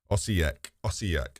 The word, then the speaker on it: Osijek: Some proper established, Osijek.